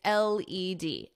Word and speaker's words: LED: It's LED, LED screen, not LED. So you pronounce this as the individual letters.